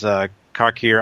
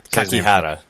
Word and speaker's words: Kakihara: And I kind of love the fact that he was one of the last guy besides Kakira. I can say his name. Kakihara. Kakihara, thank you.